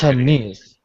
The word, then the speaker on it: Chinese: If you have just the word, all right, just Chinese, of course, where's the stress? In the end of the syllable. Yes, Chinese. That's right.